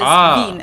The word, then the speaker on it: Wien: Or it can simply be used for a person from the Austrian city of Vienna, which is ven in German, of course, wanderlust.